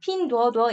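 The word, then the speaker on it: Pinduoduo: 보시다시피 중국 기업 이구요 중국식 발음은 핑두 얻어 입니다 핑구 도어는 뭐 다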